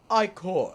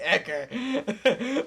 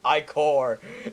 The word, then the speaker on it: ichor: That's pronounced Ichor. Oh, fuck! Never mind! I was saying Ecker. But it really is pronounced Ichor.